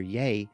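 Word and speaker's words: Yei: habitat's administration staff according to the pronunciation guide pronounced dr yeh spelled y-e-i claire says quote dr yeh said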